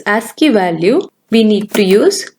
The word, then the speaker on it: ASCII: ASCII, pronounced as ASCII.